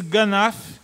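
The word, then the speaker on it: גנב: A palavra, a palavra hebraica para referir-se a furtar, pronuncia-se ganaf, significa literalmente levar algo sem ser notado.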